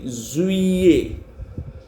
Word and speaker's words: juillet: Then J-U-I-L-L-E-T, juillet.